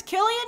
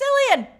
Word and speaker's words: Cillian: It's Killian Mac, for sure. It's Killian, because some people are swearing it's Cillian.